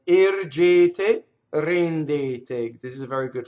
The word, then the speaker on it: ergete: So it's A. All 3 of those E's should be equal. They're all A vowel, right? You don't want to say air. Doesn't want to rhyme with hair in English, or chair, right?